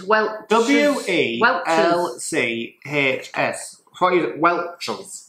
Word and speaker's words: Welch's: Nah, Welsh. Is that an S or a C? C, like Denise Welsh. No, Welch. Welsh. Welch. C-H. Welch's. Yeah, Welsh I know is